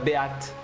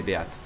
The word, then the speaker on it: Beate: Mais je vais l'appeler Beat. Même si c'est Beat qu'il faut prononcer en anglais, B-E-A-T-E, ça se prononcerait comme ça.